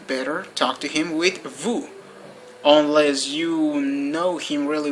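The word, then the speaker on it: vous: of the first person okay now we have Vu which probably is the most famous personal pronoun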